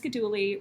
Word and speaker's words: Godhuli: I would just say my name's Godhuli, rhymes with, and my Starbucks name is.